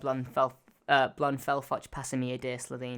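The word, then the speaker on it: Blon Fotch Pasameer-Day Slitheen: It's pronounced Blon, Fotch, Pasameer-Day, Slitheen.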